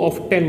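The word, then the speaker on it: often: इसी से रिलेटेड एक और वर्ड होता है, बहुत से लोग इसको ऑफन बोलते हैं, बहुत से लोग इसको ऑफ्टेन बोलते हैं। दोनों ही प्रोनाउंसिएशन ठीक है, तो परेशान होने की जरूरत नहीं है।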